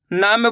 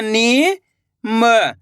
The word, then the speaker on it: नीम: इसी तरीके से पढ़ना है आपको खींच के नीम। ऐसे नहीं पढ़ना नीम। अगर आप निम कर दोगे उच्चारण तो यहां पर छोटी इ की मात्रा का उच्चारण हो जाएगा। छोटी इ की मात्रा को कम खींच के पढ़ा जाता है और बड़ी ई की